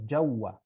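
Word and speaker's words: جوّا: like um under yeah which is uh pronounced as jawa in the jewish dialect of baghdad here or inside jaguar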